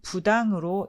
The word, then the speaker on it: 부당: 때 쓰는 부당이라는 단어는 불자 바로 뒤에 나오는 첫 자음이 디귿이므로 안일 불이라고 발음하지 않고 안일 부자로 읽습니다. 그래서 불당이라고 하지 않고 부당으로 읽혀집니다.